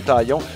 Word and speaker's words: Taillon: les Yankees, tu sais, c'est avec le N, on prononce toutes les consonnes ou à peu près en anglais, mais dans le cas de Jameson Taillon, il le prononçait de façon impeccable. Comme s'il était un francophone, Taillon.